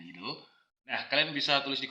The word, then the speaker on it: itel: depan HP idle ya bacanya idle ya ingat ya kita tadi udah resetch sama-sama bacanya idle nah kalian bisa tulis